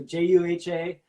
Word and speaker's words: JUHA: say, please go follow JUHA on Spotify. Did I say it right? Yeah, it's good. It's J to the U to the H to the A. So JUHA, and yeah.